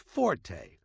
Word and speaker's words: forte: r t used in music not a is pronounced Forte and it instructs the musician to play loud